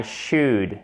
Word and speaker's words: should: I should. I should. Il y a 2 fautes en fait. C'est du 2 en 1. Déjà, le L ne se prononce pas.